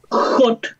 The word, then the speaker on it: hot: también, claro, no es hot. Claro, no es hot, ¿cierto? Es, ¿cierto? Con esta H aspirada, ¿cierto? Hot. Y uno abre más la boca y esa O es una mezcla entre O y A.